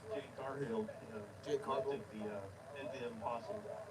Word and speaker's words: Jade Cargill: Yeah, I heard, how to pronounce her name? Jade Cargill, Jade Cargill.